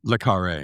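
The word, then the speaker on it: Le Carré: Le Carre, yeah.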